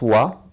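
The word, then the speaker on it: は: contre je le prononce wa. Pourquoi? Parce que lorsque le hiragana ha se transforme en particule, il se lit wa.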